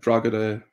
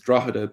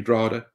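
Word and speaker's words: Drogheda: official irish pronunciation is drahada but people from here say drada and which again is linked to how you would have said it in the ulster dialect of irish you would have dropped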